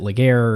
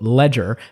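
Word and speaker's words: Legere: It's pronounced, quote, Ledger, as in AT&T is about to jump off the ledge-er.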